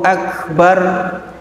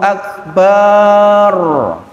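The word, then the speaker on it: أكبر: Sekarang kalau Allahu Akbar, pernah jenengan mendengar orang adzan barnya panjang? Akbar dengan bar yang panjang artinya bedug, Bapak Ibu.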